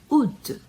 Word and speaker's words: août: uma espécie de acento agudo, acento circunflexo, juillet, août, estranho, né?